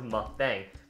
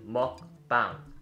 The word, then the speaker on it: mukbang: first word is mukbang actually it's not actually called mukbang is actually called mukbang not mukbang mukbang is actually derived